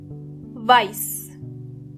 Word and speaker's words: weiß: But you have to be careful, because you might think that some words are written with S, but actually they are written with SZ, even though the pronunciation is completely similar.